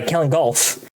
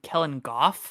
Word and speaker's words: Kellen Goff: Helen Golf? You mean Kellen Goff? Is it Goff? Have I been saying it wrong? Oh my god, it's G. I thought that was an L, not an F. This whole time I've been calling him Kellen Golf.